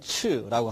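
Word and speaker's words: 赤: 뜻은 붉다, 빨갛다, 음은 적, 중국어 발음으로서는 츠라고 합니다.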